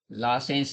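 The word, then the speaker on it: Lassaigne: less लासेंस test हैय लासेंस जी silent रहेगा लासेंस test लिखते बाय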